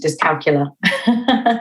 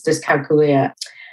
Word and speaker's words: dyscalculia: to change it to disc calcul it do make a more sense like that yeah yeah it does it does um the right pronunciation is disia but yeah so really